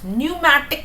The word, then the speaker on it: pneumatic: Pneumatic bones. Be careful with the spellings. P is silent.